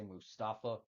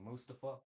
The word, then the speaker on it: Mustafa: They say Mustafa, but it's actually Mustafa.